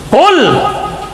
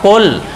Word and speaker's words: قل: اترے گا، کہہ دیجئے۔ انہوں نے فرمایا اگر یوں کہتے ہو نا جیسے قل اوپر سے آواز کے ساتھ چھوٹی کاف کا تلفظ جب نکالتے ہو قل، اس کا معنی ہوتا ہے کھا لیجئے۔ کیا کیجئے؟